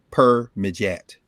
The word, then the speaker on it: Permedjat: It's PERMEDJAT. Per-Mejat.